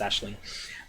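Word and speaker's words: Aisling: you need Ashley now if you're not familiar with that name will look like a filing AI l s IMG I think or something but it's actually pronounced Ashley she needs to be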